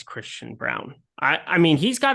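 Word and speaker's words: Braun: and we're saying wrong it's it's spelled it's brown it's it's pronounced Brown he spells his name wrong his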